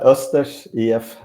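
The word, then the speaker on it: Östers IF: Was it Osters if DAM? It's not bad. Osters EF.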